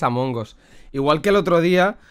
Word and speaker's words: Among Us: ríen planel a mongos es que se dice a mongos en realidad el videojuego pronunciado en inglés es am hongos igual que el otro